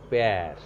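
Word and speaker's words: père: when used on E, the pronunciation of E becomes more flattened. That is a. Pronunciation will be a. So what happens here? Pe o aksa grab er o. The pronunciation will be per.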